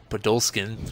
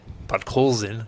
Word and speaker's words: Podkolzin: first early lead with Podolskin, or whatever his name is. Podkolzin? Oh, that's how you say it. Podkolzin, I should say.